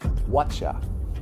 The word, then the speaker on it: whatcha: Whatcha, viene de what you. El you, muchas veces al pronunciarlo se queda como una what ya. Ese you se convierte en ya. Y aquí lo hemos exagerado y lo ponen como CHA. Es decir, whatcha es what you, lo que venga.